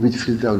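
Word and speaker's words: Whitefield: 우리가 쓸 때는 화이트필드 이렇게 쓰죠. 화이트필드, 흰 들판이라. 읽기는 윗필드라고 읽어요. 한 단어, 윗필드.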